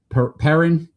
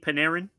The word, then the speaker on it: Panarin: The New York Rangers, they're moving on from uh Art Art Tammy Perin. Art Paneran. Paneran. I always say his name wrong.